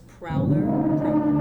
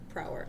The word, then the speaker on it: Prower: is real name is Miles Prowler prow Prower I always add an L in there for no reason probably thinking of the prowler yeah probably question two